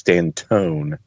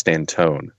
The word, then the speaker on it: Stanton: But I think the umlaut over the O means it's Stantone as opposed to Stanton.